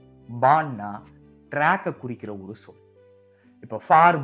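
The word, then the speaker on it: Bahn: ஹா தொடக்கத்துல ஒரு வார்த்தையுடைய தொடக்கத்துல வந்தா மட்டும்தான் உச்சரிக்கணும். வேற எங்க வந்தாலும் மறந்துரணும்.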